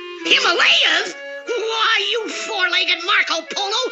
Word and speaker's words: Himalaya: Way I figure it, we're somewhere in the Himalayas mountains. That's pronounced Himalaya. Himalayas?